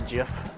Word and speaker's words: GIF: I should be done here in a jiff. Do you know that GIF is actually pronounced JIF and we've been saying it wrong our whole lives? Yeah, I don't give a fuck. I'm calling it GIF.